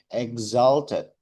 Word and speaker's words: exalted: Coba di X-nya pakai Z. Exalted.